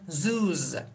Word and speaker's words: zoos: O harfi, tabii ki harfimiz O ama sesimiz U, U, U, okay? O yüzden zoos, zoos, zoos. Tabii ki burada harfe bakıp da söyleyebilirsiniz ama okunuş tamamen değişiyor. İki tane O harfi İngilizce'de U, uzun U gibi telaffuz yapılıyor.